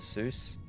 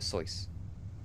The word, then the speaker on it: Seuss: reason why um Dr zo's name is mispronounced um because he thought it rhymed better and made a connection with Mother Goose so Dr Seuss uh but that's actually